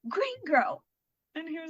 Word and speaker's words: Green Gurl: It's more of, it's supposed to sound like one word, Green Girl, Green Girl.